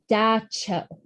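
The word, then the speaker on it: Dab Tsog: described a figure called Da Cho. Luckily, they told me how to pronounce that one because it does not look like that. It looks like Dab Tasog. Da Cho, an evil spirit that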